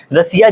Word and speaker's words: Russia: ठीक है, तो रसिया में पढ़ेंगे तो एस के बाद आपको क्या IA दिख रहा है, तो यहाँ भी जो उच्चारण होगा किस में होगा, स में, बड़े स में होगा।